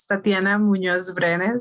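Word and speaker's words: Tatiana Muñoz: my name is uh the pronunciation is tatiana munoz i know it's it can be very difficult to pronounce and well i am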